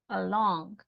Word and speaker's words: along: Andreita, along. Along. Is it on the first or second syllable? Second syllable, long. Along, right?